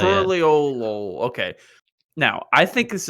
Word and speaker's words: Tuliyollal: I like Tuliyollal, I think is how they say it. Tuliyollal.